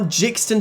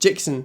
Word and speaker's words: Jixon: Well, these are Jixton switches. I think that's how you say it, at least. Jixon. The Jixon switches, not Jixton switches.